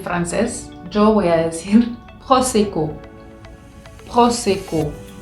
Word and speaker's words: prosecco: yo voy a decir prosecco, prosecco. Entonces se dan cuenta que yo acá tengo dos veces la letra O y se pronuncian de formas diferentes.